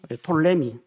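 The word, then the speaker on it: Ptolemy: 있었고 남쪽으로는 이집트를 차지한 톨레미 톨레미라고 하는데 피자는 원래 발음 안 합니다. 아 우리가 사이로지라고 하지 프사이칼로지라고 하지 않는 것처럼 톨레미 왕과 이집트 쪽을 차지하게 됩니다.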